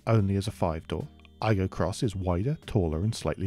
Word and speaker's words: Aygo X: this is the toyota i go cross spelt with an x that replaces the igo